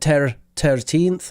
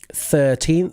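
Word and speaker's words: thirteenth: this uh 13th uh you use the Irish pronunciation you said ter 1th or something like that sound a bit Irish um 13th so just uh make sure that you're hitting that th at the start uh fetching CH uh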